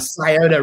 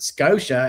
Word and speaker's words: Scioto: We have the Scioto River, and it's pronounced Scotia everywhere else. But if you're from here, we have the Olentangy, but it's the Olentangy is how it's spelled.